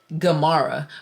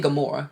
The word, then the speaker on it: Gamara: It's technically Gamara, but we say it wrong. We say Gamora, but it's technically Gamara.